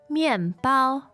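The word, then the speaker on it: 面包: Now, in this case, it's bread, and that is 面包面包. Great. fourth and first tone Good.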